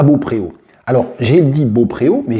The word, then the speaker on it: Beaupréau: blog Touraine Sereine, que le nom de cette commune s'écrit Beaupréau avec un E accent aigu, mais que ça se dit Beaupro, apparemment.